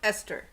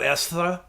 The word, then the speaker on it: Esther: a game you know it's just pronounced Esther it's not Esra my dear Esra it